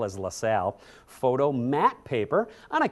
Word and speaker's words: Lasal: That's how that word is pronounced, by the way. LaSalle is LaSalle.